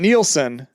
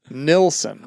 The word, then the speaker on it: Nilsson: But it wasn't Nielsen. It was Nilsson.